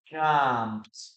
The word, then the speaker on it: jumped: In this case, we don't pronounce the letter E. Okay. We don't pronounce it. So the pronunciation will be jumped.